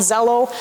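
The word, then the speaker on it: Xello: using with your students it's called Zello why it's spelled with an X I don't know it's kind of like xylophone I you know I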